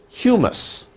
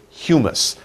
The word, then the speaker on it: humus: hue mus two sounds two sounds hue mus humus so we say humus that is the mix of rotting stuff and